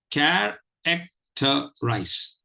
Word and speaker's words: characterize: And this word divides itself into 4 syllables. There are 4 syllables in this word. And they are syllable 1, care, syllable 2, ek, syllable 3, ter, and syllable 4, eyes. Let me repeat. Syllable 1 is care, syllable 2 is ek, syllable 3 is ter, and syllable 4 is eyes.